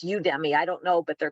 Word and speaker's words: Udemy: I'm a big fan of, I think it's pronounced Udemy.